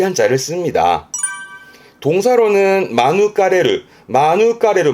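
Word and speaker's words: 免れる: 요거를 마누가레르, 의미는 같아요. 보통은 마누가레르 합니다만은 마누가레르라고 발음을 하는 부분도 있기 때문에 또 언급을 해주네요.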